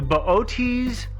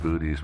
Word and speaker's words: Boötes: butcher this pronunciation, the Boötes, Epsilon Boötes. I'm not sure. I just call it booties myself. But I know Booties isn't correct. No.